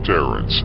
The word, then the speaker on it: Terence: of the name peace Clarence from eight mile rhymes with Terence and Terence nickname is